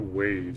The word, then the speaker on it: WAV: I always pronounce it wave because it's a waveform, you know what I mean?